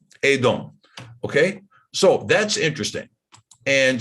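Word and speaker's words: אֱדוֹם: But in all three cases, it's pronounced Edom. Edom.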